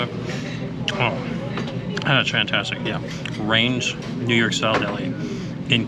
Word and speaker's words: Rein's: The name of the deli is Rein's, not Reins. I mispronounced that.